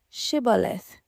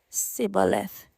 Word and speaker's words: Shibboleth: If the man said, "No, I'm not," they would tell him to say, "Shibboleth." If he was from Ephraim, he would say, "Sibboleth," because people from Ephraim cannot pronounce the word correctly.